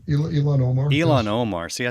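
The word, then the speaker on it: Ilhan Omar: Ohan Ilmar, is that right? Right, Elon Omar.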